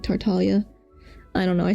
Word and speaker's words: Tartaglia: Don't they also say tartaglia? Well, that's not how you say the G in Italian, like Tartalia.